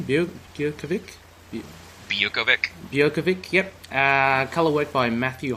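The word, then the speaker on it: Biuković: how do you pronounce his name? Bukovic? Bukovic, yep.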